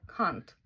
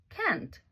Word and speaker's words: can't: Але тут обережненько, бо британський варіант вимови буде can't, а от американський і той, що в Канаді can't. Якщо раптом в тих країнах ви скажете British version, вони можуть сприйняти це слово як нецензурне.